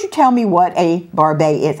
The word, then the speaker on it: Barbet: And then my other guest is Sally Birgl, and she has a Barbet, which is spelled B-A-R-B-E-T, but it's French, so it's Barbet, right?